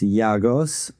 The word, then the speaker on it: Giagos: Uh, it's actually pronounced Yagos.